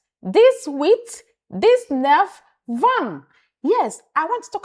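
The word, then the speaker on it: vingt: Says says decept this sets this sets this with this with this with this nef this van the t in van is silent van van van not vm not vm Mm.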